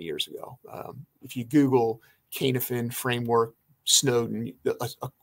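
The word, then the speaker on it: Cynefin: about this is the canif it's called it's pronounced kanefen c-y-n-e-f-i-n k-n-f-n framework a gentleman named david snowden who was an ibm researcher uh put this out probably maybe 20 years ago if you google kanefen framework snowden like a short 10 minute video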